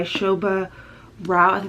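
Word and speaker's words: Shobha Rao: last night and this girls spread brighter by Shobha Roth that's how you say it this is a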